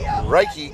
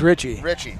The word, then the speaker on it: Richie: So Reiki gets his goal, but that might not be a good idea. Did I mispronounce that one again? I believe it's Richie.